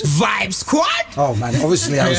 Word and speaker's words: Vibe Squad: what's up now what you guys origin from Vib Squad Vib Squad it is the am i y am I announcing you how do you announce B Squad say that again you pronounce it Vibes sad oh man obviously I was saying wrong I